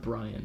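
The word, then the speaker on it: Brion: I know, but it's pronounced Brian.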